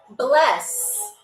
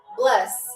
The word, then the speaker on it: bless: Like, bless you. But bless. What does that word mean? What does that word mean in Icelandic? Bless. And it's spelled exactly the way you hear it.